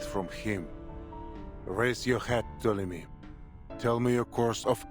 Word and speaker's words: Ptolemy: I've been trying to say his name with the letter P in front of it